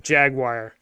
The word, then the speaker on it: Jaguar: I'm gonna say it like an American. Jaguar.